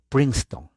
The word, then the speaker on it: Princeton: google universidad de princeton se lee en español princeton pero se pronuncia en inglés prince la e no se pronuncia la c s princeton la universidad de princeton